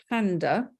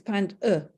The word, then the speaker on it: panda: is a swallowed vowel sound in an unstressed syllable. So if we look at the first word, panda, pa-a-na, that a is definitely there, pa-a-na-da. And then that last sound, it's not pand-a, it's pand-uh.